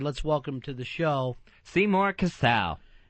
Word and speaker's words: Seymour Cassel: Yes, Seymour Cassell.